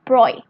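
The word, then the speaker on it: Broglie: to louis de bruy so here we pronounce pronounce it at broy okay this one pronounce it a bright louise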